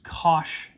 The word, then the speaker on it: cosh: h after it and we actually pronounce that the way it looks cosh and cinch so even